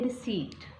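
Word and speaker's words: receipt: उसमें इक्वल जाता है रिसीप्ट रघु दीक्षित का मतलब होता है वहां पर पी नहीं लगता है वहां पर पीस साइलेंट होता है नॉर्मल बहुत सारे लोग यह गलती करते रिसीप्ट बोलते हैं स्पोर्ट्स किट यहां पर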